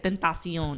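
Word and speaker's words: XXXTentacion: somebody that calls him ex-extentation i was so you know when he first came out i was like yo how you say it and then he said he was like tentacion i was like see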